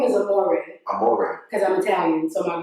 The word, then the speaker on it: Amore: Pronounce it again, the label? Well, my middle name is Amore. Amore.